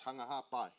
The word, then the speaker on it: Hunga Ha'apai: fact for the tongin the P is actually pronounced with a B say hung a half by so that's what the